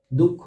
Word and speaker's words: দুঃখ: এর উচ্চারণ কি হবে দুঃখ বানানের উচ্চারণ দুঃখ এই যে খ এর আগে দীর্ঘ হচ্ছে দুঃখ ঠিক আছে